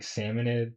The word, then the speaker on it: Salmonid: Actually, we're going to be switching between salmonoid and salmonid. I think like salmonade is like the actual pronunciation, but I like I I like saying salmonoid, but salmonade is kind of like quicker though.